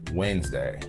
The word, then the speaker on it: Wednesday: Wednesday. This might be the most hated word in the English dictionary. The word has more syllables on paper than when you say it.